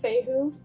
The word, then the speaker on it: Fehu: It is, I believe it's pronounced Fehu. Not 100% sure, but it is associated with the letter F.